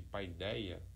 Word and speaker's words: paideia: Então ali há o que os estudiosos de hoje vão chamar de paideia, isso pronunciando aqui de forma aportuguesada, né? No grego seria algo como fideria.